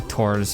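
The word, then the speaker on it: Thors: to take him out Thor's or tours as they pronounce it obviously but I don't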